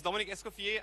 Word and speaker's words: Dominic Eskofier: Hi, my name is Dominic Eskofier.